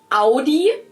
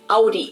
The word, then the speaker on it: Audi: Most Americans that I know pronounce it like I just said it, Audi. Yep. In German, we say Audi.